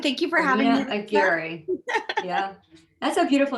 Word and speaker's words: Aguirre: So Aguirre is, I always used to say it's like the gear in a car. Aguirre, Aguirre. And thank you for having me. Aguirre.